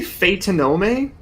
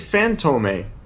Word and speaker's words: Fantôme: Did he just say Phaetonome? That word is phantome. Like he said it wrong.